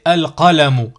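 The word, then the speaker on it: القلم: Par exemple, al, ici, alif, avec a, ça fait a, lam avec soukoun, ça fait l, ça fait al, plus qaf, qaf avec a, qa, ça nous donne al-qa. Si je veux prononcer le mot ici, al-qalamu, tout simplement.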